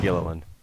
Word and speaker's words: Gilliland: Gilliland.